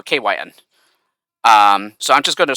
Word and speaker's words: KYN: Yeah, that's how you say it, or at least that's how I tell people to say it, because it's essentially like three parts. Yeah, the first part is K, so KAY, that's the K part, and WHY, as you know, is the word Y, so it's pronounced Y, and then the N, yeah, as the letter that's tacked on, so KYN.